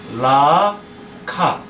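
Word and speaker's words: ממלכה: 이거는 이게 아 발음이에요. 마. 근데 요게 또 다시 읽으니까 이게 합쳐서 이게 마무. 이게 아예요. 이게 아. 그래서 이게 마물라카. 요거 합치면 맘라카. 이게 왕국이라는 뜻이에요. 보세요. 마물라카. 맘라카. 이게 왕국이에요.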